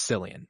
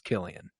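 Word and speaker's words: Cillian: saying his name wrong a lot of people think it's sillian but it is it is Killian hmm yeah because I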